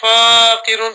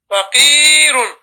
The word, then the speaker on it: فقير: And then no alif. There's no alif after the fa. So don't say faqirun. Say فقير. faqirun.